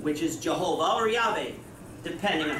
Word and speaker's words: Yahweh: in English yhw H pronounced in the Hebrew as Yahweh or in English has